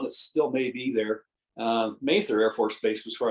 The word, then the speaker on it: Mather: That's interesting because my last name is spelled the same way, but we've always pronounced it Mather, Mather. Kind of like I don't know if you are familiar with the Puritans, Cotton Mather, Increase Mather, Richard Mather. Right. So in that line of pronunciation of the last name.